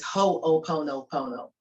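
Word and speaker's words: hoʻoponopono: up on YouTube and for short, it's spelled hono, which is h o n o p o n o, but the longer name, which is the correct name, is ho pono pono.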